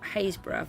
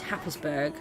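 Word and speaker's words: Happisburgh: a real lighthouse in a place called hayesboro which people would pronounce as hafflesburg it's quite funny and this building here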